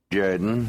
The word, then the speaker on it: Jordan: It's pronounced Jordan.